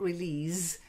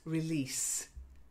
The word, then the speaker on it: release: And then the next one is a soft S, not release, it's release. That's it.